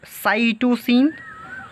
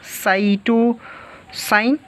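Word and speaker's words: cytosine: इसी तरह इसमें 3 होते हैं, जैसे इसमें होगा आपका साइटोसिन, साइटोसाइन, प्रोनाउंसिएट कुछ भी कर सकते हैं, uracil, and last one is thiamine.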